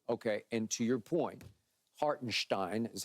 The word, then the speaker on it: Hartenstein: dribble dribble dribble okay and to your point hartenstein is how it's supposed to be pronounced okay hartenstein they're not gonna be able to keep him